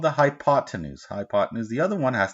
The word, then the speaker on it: hypotenuse: you didn't know that it's the hypotenuse hi pod 10news and least these three